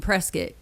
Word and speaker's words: Prescott: They tell me that I'm from Prescott. You say it like biscuit and I will never forget that.